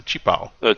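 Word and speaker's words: qipao: In the Pinyin alphabet, the Q is pronounced with a CH sound. It's a chipao.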